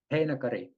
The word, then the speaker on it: Heinakari: So, Maddie, your last name is pronounced Hinakari. Hinakari.